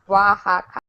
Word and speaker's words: Oaxaca: Oaxaca. OA is a W sound.